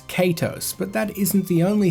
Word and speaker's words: Kaitos: So the instinct is to say Kaitos, and English grammar points towards Kaitos, but that isn't the only thing that suggests a pronunciation of Kaitos.